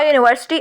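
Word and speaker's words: university: unit a union a यूनिवर्सिटी a European ऐसे शब्द जो डब्लू व की साउंड देते हैं अ one rupee note a one eyed person a वन way ticket अब हम एन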